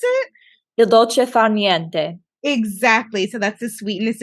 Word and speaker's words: il dolce far niente: yes, way pronounce it. Il dolce far niente.